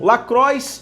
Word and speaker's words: LaCroix: ficam falando incessantemente, e muitas pessoas pronunciam Lacroix e outras pronunciam Lacroix, que seria uma forma mais francesa de falar, mas é uma marca americana.